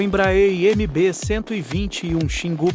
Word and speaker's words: Xingu: o embra MB 121 Xingu pronunciasse xingou é uma aeronave biturbo